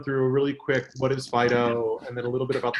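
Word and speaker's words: FD.io: really quick Fido fti oh we pronounce it Fido because it's cutesy like that I mean it gives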